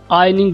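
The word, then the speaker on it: ironing: आयनिंग board, दोस्तों ये word होता है आयनिंग, जिस तरह आयन होता है ना, आयनिंग बोर्ड, इसमें आय साइलेंट होता है, आयनिंग बोर्ड।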